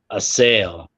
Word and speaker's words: Asyl: fish or something um the German word for Asylum and it's it's asy as as Nas likes to say it but the pronunciation that they gave was uh a sale um so I don't